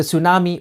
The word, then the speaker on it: tsunami: You've probably noticed that the T at the beginning is silent.